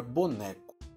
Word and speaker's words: boneco: Vamos escrever agora a palavra boneco. Có, né, bo. Boneco. A sílaba tônica é a né. Então, é a penúltima, a sílaba tônica desta palavra.